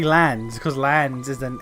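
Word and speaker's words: Lanz: know Lance and I I can't use the excuse of you know that's the American pronunciation whereas I'm British I can't do that because almost everyone in the fucking cast is British and they all say lands cuz lands isn't it's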